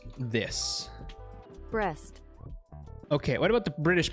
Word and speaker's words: Brest: Google, how to pronounce this? Brest.